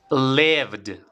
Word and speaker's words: lived: forma base l eh forma pasada leved tiene que sonar esta d del final vale repite conmigo lived una vez más lived